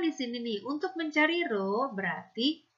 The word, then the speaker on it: rho: Di sini ada M, di sini ada rho, dibacanya adalah rho.